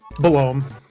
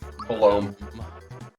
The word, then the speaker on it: Belome: So, the boss that is normally down here in Kero Sewers, how do you pronounce their name? Belome. Belome.